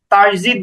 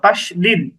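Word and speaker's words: تشديد: শুদ্ধ করে নিতে হবে আমরা অনেকেই তাজিদ বলি তোজিদ এরকম না বর্গীয় জ দিয়ে দিয়ে উচ্চারণ না বরং দুইটাই দ তাশদিদ তাশদিদ এর পরিচয় তাশদিদ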